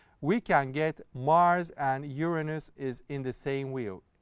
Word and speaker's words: Uranus: Well, the correct pronunciation, most correct pronunciation I know is Uranus, because these are not coming from English language. Those are, the names of the planets are coming from the Roman gods, and the correct pronunciation